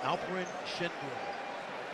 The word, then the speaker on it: Alperen Şengün: But Alperen Şengün. I didn't know that's how you pronounce it.